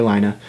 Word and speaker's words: Lina: Lina, actually pronounced Lene, I just call her Lina, standing next to me but is in standard class.